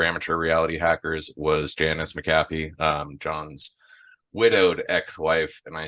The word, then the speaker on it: McAfee: I have Is always it McAfee or it's McAfee, how do you but say it?